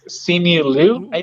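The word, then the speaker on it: Simu Liu: really like his name i don't know how to pronounce it but it's see me lou yes yes the main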